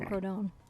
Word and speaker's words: Quinacridone: It's Quin, Crow, Don. Rodone. Don. Quinacridone.